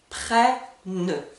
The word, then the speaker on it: prennent: Donc comme le E est suivi de deux consonnes, nous allons entendre le son est. Prennent. Comme pour tous les verbes au présent, le NT ne se prononce pas.